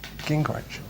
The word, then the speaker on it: Gingrich: Gingrich. Gingrich. Gingrich. All right, wicked. Gingrich.